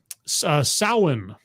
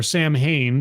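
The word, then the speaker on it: Samhain: going to happen until um sin or Sam Hayne depending on how you pronounce it uh because that's the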